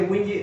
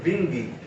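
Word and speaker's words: Windisch: El nombre, la gente dice Wingy, realmente en alemán la W se pronuncia V. Por lo tanto, el nombre debería decirse Wingy.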